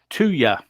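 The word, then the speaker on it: thuya: so through your wood which is pronounced tuya so two as in yeah two yeah apparently it's pronounced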